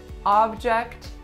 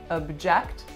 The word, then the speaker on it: object: exact same way but as you can hear object object have different pronunciations and they have different stress so today's video is